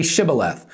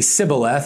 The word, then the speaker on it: Shibboleth: They say, all right, say Shibboleth. And they would say Sibboleth, and then they'd kill them because they couldn't pronounce that H right.